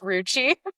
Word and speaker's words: Roachy: It's pronounced Ruchi, Creature plus cockroach equals Ruchi.